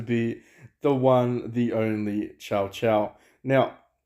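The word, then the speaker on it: Cao Cao: the one the only ciao ciao now or shall shout depending on how you want to pronounce him i'm going to call him chow chow like the puppy uh if that offends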